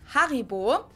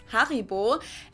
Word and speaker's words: Haribo: Haribo is actually German we pronounce it Haribo Haribo and again the name